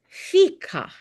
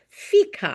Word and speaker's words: fika: This word is fika. And it is a Swedish word, fika.